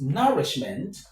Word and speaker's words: nourishment: The stress is on nour, right?